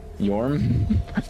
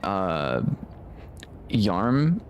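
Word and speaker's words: Yharim: I was told it's pronounced Yorm. I was calling it Yarm. Yarm? Yeah. Yarm? That's how I was pronouncing it previously, because that's kind of how it looks.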